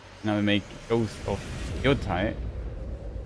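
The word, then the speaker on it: Yōtei: Now they make ghost of yoai. how it's pronounced where the stress is. I think on the first syllable. There you have it. An amazing new look at Ghost of Yote out October 2nd for PS5.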